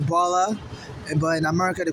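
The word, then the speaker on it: Bola: In Nigeria they call it baller but in America they call it baller you know.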